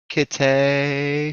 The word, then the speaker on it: Kittay: And on that kind of note, this is something that I wrote about my best friend passing, and Kittay, she like kitty, but Kittay.